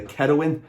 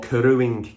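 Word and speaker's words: keruing: part of my pronunciation this is called either kerawin or keroing k-e-r-u-i-n-g it's 22 millimeters thick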